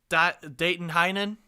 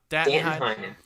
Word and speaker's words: Danton Heinen: Dayton Heinen. Did I pronounce it? Danton Heinen.